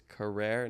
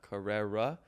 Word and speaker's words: Carrere: how to act actually say her name it's carrer not Carrera uh so that was